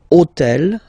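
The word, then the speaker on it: hôtel: took on purpose this otel okay because it starts with Ash but remember that in French we don't pronounce Ash okay so basically the first sound of the word is the vowel o okay okay so for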